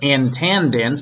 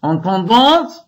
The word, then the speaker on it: intendants: Called, well, we'd say here intendants, but it's intendants, which is how everything is pronounced in French.